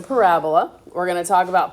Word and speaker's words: parabola: That is not pronounced parabola. It's a parabola.